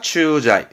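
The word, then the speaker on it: 駐在: 그래서 발음은 추자이. 주제하다 추자이.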